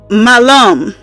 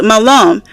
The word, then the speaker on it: malum: sounds like melon but Apple in Latin is malum and if you say it with a uh long a it means um Apple but if you say it well short a and it's all spelled the same m a l u m you can look at up yourself to give youall that information it means evil so that's why people